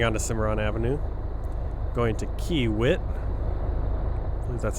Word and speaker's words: Kiewit: or me turning onto Cimarron Avenue going to Kiewit that's how it's pronounced and pick up our excavator bound for